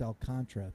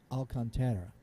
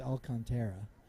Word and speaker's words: Alcantara: all kind I know everybody says it's all Contra but it's Alcantara right I know I I go back and forth with how I pronounce it I mean come on people speak Spanish a little bit it's Alcantara anyway I know everybody goes it's all Contra no no there's an a there and you have to pronounce Sandy L cantry it's not silent come on I